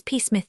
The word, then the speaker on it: Psmith: My name perhaps I ought to reveal to you is peith p is silent and until very recently I lived in affluence not far from the village of much middlefold in this county.